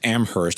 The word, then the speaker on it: Amherst: I had no idea that Amherst had two different ways to say it. It does. Well, there's the pretentious way. The college The college doesn't pronounce the H.